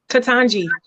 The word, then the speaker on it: Ketanji: How do you pronounce her name? Ketanji.